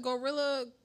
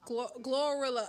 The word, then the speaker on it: GloRilla: hot okay yeah who's the girl is that gorilla glorilla I always say her name wrong gorilla glorious right here yeah okay the